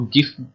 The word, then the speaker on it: GIF: उसने बोला आप इसको गिफ बोल सकते हैं कि आप इसको जिफ प्रोनाउंसिएट कर सकते हैं। ठीक है, इसकी प्रोनाउंसिएशन जो है वो गिफ या जिफ है।